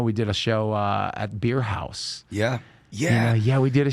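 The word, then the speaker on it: Beer Haus: And I think it's spelled H-A-U-S. Beer House.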